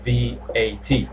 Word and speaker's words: VAT: by letter i repeat most of the acronyms are pronounced letter by letter so you don't say that so you say v a t on the previous one